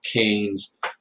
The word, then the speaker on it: Keynes: So at that time, along comes a great and famous economist, John Maynard Keynes, and it's pronounced Keynes, and his followers are called the Keynesians.